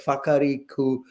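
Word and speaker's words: Wharariki: I'm trying to try and pronounce it, but it's WHA in English when it's written by Maori words is called Fa. You pronounce it as Fa. I'm trying to pronounce the right word. Whakariku Beach.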